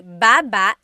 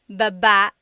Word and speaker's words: baba: So depending on how you're saying it, it could be baba, chin, baba. Emphasis is on the first syllable, baba. Then there's baba babba. Emphasis is on the second syllable syllable.